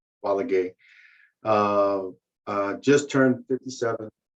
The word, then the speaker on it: Valague: my name is balague the last thing is pronounced quality uh uh just turned